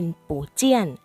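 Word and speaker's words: 不见: ว่า พบ หรือ เจอ เสียง 4 กับ เสียง 4 มา เจอ กัน จึง ออก เสียง เป็น เสียง 2 และ เสียง 4 นะ ครับ เป็น ปู่ เจี้ยน เขา เสียบ เจี้ยน ไม่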